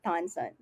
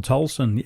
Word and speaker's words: Tolson: together and help me welcome our good thompson i hope i'm pronouncing your name correctly tolson yes thank you so much i um i